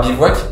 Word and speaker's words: Bevouac: nous a mené vers Bivouac avec un E, je tiens à le préciser, parce que souvent nos investisseurs nous font bien rappeler que ça peut se prononcer Bivouac.